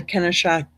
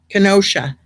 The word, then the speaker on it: Kenosha: else in front of the kennesha or is it kennesha kenosha i'm sorry i said it wrong in front of the